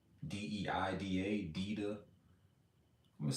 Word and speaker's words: Deida: So, and I always go back and forth about how to pronounce this man's name. David Deida, D-E-I-D-A, Deida.